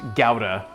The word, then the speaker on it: gouda: I have learned that that gouda cheese is actually pronounced gowda which I think is uh is obnoxious and I don't like it I'm gonna call it gouda it's gouda to me